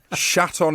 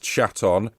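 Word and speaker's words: Shatton: fraternity of vagabonds yes that is how it's pronounced chat on when my informant quizzed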